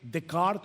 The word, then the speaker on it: Descartes: ¿Han escuchado la famosa frase de el filósofo francés René Decart o Descartes como se escribe en español?